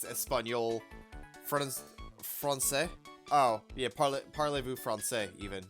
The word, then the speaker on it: français: Francais.